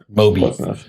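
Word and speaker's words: Mobi: M O B I Moby. Those pronounced the same way as Moby, the music producer.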